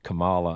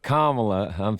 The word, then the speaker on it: Kamala: with I know that Trump calls her Kamala on purpose, but Kamala, I'm thinking that's the proper way to pronounce her name.